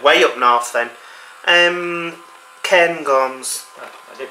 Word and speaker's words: Cairngorms: Cairngorms. Oh, I did pronounce it correctly.